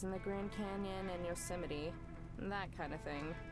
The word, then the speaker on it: Yosemite: think of arches in the grand canyon and yosemite and that kind of thing it's pronounced yosemite okay thanks so i think a lot of